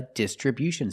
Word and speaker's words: distribution: distribution with a stress on a first and third syllable.